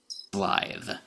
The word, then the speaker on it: Slithe: They're spelling it with just one S here, but I'm sure I remember the toy package back in the 80s having at least 3. So I'm pronouncing it Slithe.